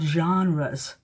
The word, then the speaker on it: genre: to write down also you want me to spell it g e n r e s that's the plural genre is the singular form of that and when you use that